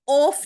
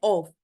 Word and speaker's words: of: ये ऑफ नहीं होता, इसकी प्रोनाउंसिएशन होती है ऑफ, यानी एफ की साउंड व में निकलती है, ऑफ।